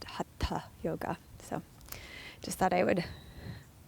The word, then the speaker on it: Hatha yoga: it is in the west we often Say Ha yoga and is correctly pronounced hat yoga so just thought I would say that in